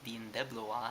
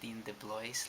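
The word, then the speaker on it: Dean DeBlois: is written directed by his name apparently is pronounced dean debloa like i pronounced it dean de blois last time like i'm so sorry for that and you've got the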